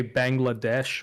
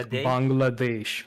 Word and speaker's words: Bangladesh: in Bangladesh um uh a lot of people say Bangladesh but that's sort of the American pronunciation I say the Bengali pronunciation which is Bangladesh Bangladesh yeah you got